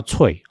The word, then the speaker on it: Threads: 我题外的话我先讲一下 Threads THREADS 那在台湾的网络生态现在都被发音成叫脆就是吃起来很脆的